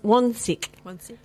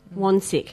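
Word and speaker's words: Wansink: And his name was Brian, let me say his name right, Wonsick. Wonsick.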